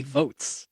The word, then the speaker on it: Voatz: He's even kept the dream of online voting alive and is currently serving as a board member with the startup company Votes, which is spelled VOATZ.